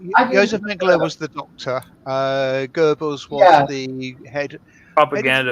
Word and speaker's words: Goebbels: Goebbels, yes.